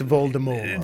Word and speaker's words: Voldemort: He's using the original French. It's Voldemort.